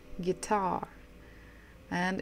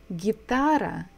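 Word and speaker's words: гитара: should be a guitar guitar and in Russian it is the same gitara gitara so that we stress the second syllable guitar so this is guitara there could be a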